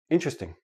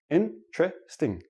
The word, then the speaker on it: interesting: word is interesting but in everyday speech interesting interesting interesting i have four syllable syllables when I actually say it naturally it becomes three syllables and that T and D are become like a CH but that's we'll talk